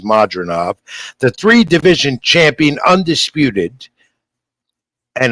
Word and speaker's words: Madrimov: And you're hearing pronunciations of his name today, all different ways, but it is Madrimov.